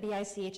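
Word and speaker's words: Bich: And just remember that B-I-C-H is pronounced Bic.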